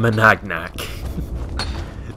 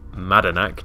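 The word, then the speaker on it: Madanach: Curious he called him Managnak. There is not a fourth Madanak. Yeah, there's not a fourth syllable in there. Very well, let's see what Madanak now has to say about this.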